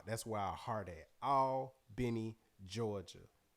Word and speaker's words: Albany: where our heart at all benny georgia a-l-b-a-n-y pronounced all not al benny for the folks who ain't from down bottom ain't from the south all benny georgia shout